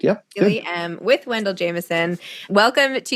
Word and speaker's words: Miele: Is that how I pronounce it? Miele? Yeah, perfect. Yeah. Miele, with Wendell Jamieson.